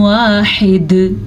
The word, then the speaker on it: واحد: الہ واحد، ٹھیک ہے۔ جیم پہ وقف کرنا جائز ہے، تو پھر ہم جب وقف کریں گے تو دال ساکن ہو جائے گی، ساکن دال پہ تو قلقلہ بھی ہوتا ہے، یعنی کہ ساکن دال جھٹکے سے پڑھی جاتی ہے، اور ہا کے